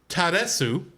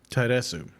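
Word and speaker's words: ターレス: In Japanese, his name is Taresu. Taresu. Which, if you rearrange the first two syllables, it becomes Reatsu or lettuce.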